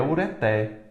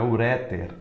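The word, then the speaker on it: ureter: Da mesma forma é ureté. Não é uréter, é ureté, ureté.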